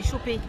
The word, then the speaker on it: choper: Is it Chopper or Chopper? C'est choper. Choper. There we go. Like, to catch. To catch.